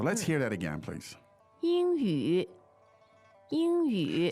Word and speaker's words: 英语: 英语，英语。 So you can tell that the ing sounds a little bit like ing as in English, that syllable, right?